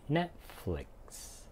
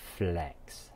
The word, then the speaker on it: Netflix: ，佢系读 Netflix。注意唔系 flex，系 Netflix。